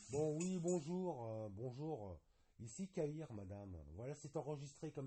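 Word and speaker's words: Cahir: Monsieur Caïr, ça s'écrit bien K-A-H-I-R, c'est ça? Pas du tout. C-A-H-I-R. Comme un cahier, mais sans le E.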